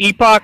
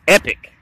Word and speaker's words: Epoch: gashapon figures from epoch it looks like he'd pronounce it epoch but i think technically it's just pronounced epic what's up with that